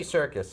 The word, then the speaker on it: Serkis: the guy circus Andy Serkis correct sir circ Circus Circus Circus ser K is okay not like circus like let's go to the circus difference about that same pronunciation same pronunciation all right very well